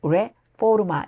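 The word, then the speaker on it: Reforma: 분들 안녕하세요 하이 멕시코의 레포마 레 정확하게는 레포마 이렇게 발음해야 되겠네요 레 포르마는 포르노 게이트의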